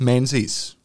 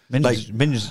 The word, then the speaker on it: Menzies: Yeah, but it's not pronounced Menzies. No? No. I don't know how it's pronounced, but I know when they pronounced it, I went, it's like Mingus or something. Minges.